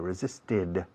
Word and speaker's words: resisted: Es como una id al final, un sonido id, resisted.